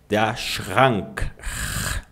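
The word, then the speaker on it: Schrank: Lembra, ó. Sch com som de X. O R normalmente ele é feito no fundo da garganta. Shrank. Muitos professores até mesmo t dificuldade em fazer essa pronúncia. Professor brasileiro, né? Eh, se você tem muita dificuldade, você pode fazer o R na ponta da língua.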